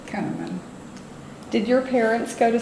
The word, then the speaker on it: Kunneman: Often pronounced Kunneman, but we have always said Kunneman.